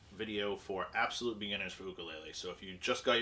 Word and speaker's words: ukulele: so this is a ukulele now um the pronunciation that most people prefer is ukulele not ukulele like is uh probably more popular in media